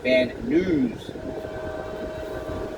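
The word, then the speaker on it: Van Nuys: He pronounces it van news.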